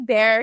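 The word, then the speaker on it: Bair: it for the people her name is bear spelled b a i r it's like Blair but without the L because Charlie's name you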